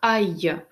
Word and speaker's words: aille: Le verbe aller. Читается как aille.